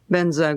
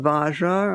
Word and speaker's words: Vajra: the mantra Om Ahum Benza Guru Pema Siddhi Hum. Om Ahum can be spelled H-U-M or H-U-N-G. Om Ahum. And then Vajra, or pronounced by Tibetans Benza, V-A-J-R-A, Vajra.